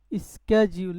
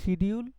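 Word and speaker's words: schedule: স্ক্যাজিউল, এই শব্দটার উচ্চারণ নিয়ে মেলা ঝামেলা, কে বলে শিডিউল, কে বলে স্ক্যাজিউল, এই আর কি, কে বলে শিজুল, শিজুলও বলে কেউ, বাকি আপনি এটা স্ক্যাজিউল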